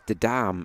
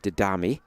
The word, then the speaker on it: Didam: Thanks to young Negrensi, who points out that it's Didam and not Didami.